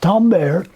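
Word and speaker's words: timbre: no it looks like timber I know that di M BRE but it's pronounced Tom bear that's French and it means quality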